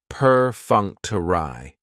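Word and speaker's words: perfunctory: Prefuncter has four syllables and the stress is on that second syllable, that funk. Perunctury. That third syllable has the schwa and it's going to end with that long e sound.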